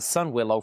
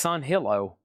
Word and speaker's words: Sunhillow: I I think I've been calling this Oasis of Sunwillow for years. It's o Oh, how do you say that? Oalas Oolas of Sunwillow. It's Sunhillow.